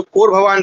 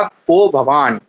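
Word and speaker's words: को भवान्: को भवान। कोभवान। ठीक है? एक्चुअल में संधि जो सही संधि क्या होगी? सही उच्चारण क्या होगा? कोभवान।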